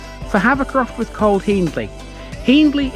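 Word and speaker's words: Hiendley: havocroft with cole hendley hendley is pronounced by the locals to rhyme with fiend although given the etymology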